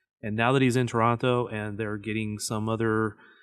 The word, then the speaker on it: Toronto: It's not Toronto. You don't pronounce both T's. Toronto.